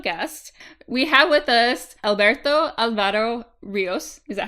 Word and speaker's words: Alberto Álvaro Ríos: We have with us Alberto Álvaro Ríos. Is that how you pronounce it? Did I do it good enough? Alberto Álvaro Ríos.